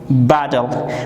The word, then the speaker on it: battle: Battle. ما battle تلفظ میکنیم چون از نگاه تلفظ زمانی که دبل تی در وسط کلمات قرار بگیره معمولا سافت دی تلفظش میشه، یعنی مثل دی نرم تلفظش میکنیم.